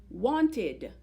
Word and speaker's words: wanted: It's spelled ED, has the suffix ED, but it sounds like id, wanted.